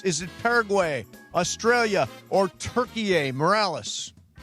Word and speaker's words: Türkiye: Is Türkiye basically Turkey, and we just changed the pronunciation?